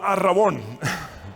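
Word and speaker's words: ἀρραβών: alabanza de su gloria por favor repitan conmigo ar rabón verdad que no está muy difícil aprender griego ar rabón es fácil de pronunciar y Hay a veces similitudes en pronunciación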